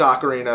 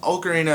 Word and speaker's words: Ocarina: in the game and sequence of okarina of time yes I just switched the pronunciation on you CU I interchangeable I really don't care in the in-game sequence